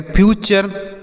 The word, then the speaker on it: future: अगला FUTURE, तो एफ से लिखेंगे आधा फ, यू से लिखा जाएगा यू, और TURE से चर पढ़ना है, तो यह लिखा गया फ्यूचर।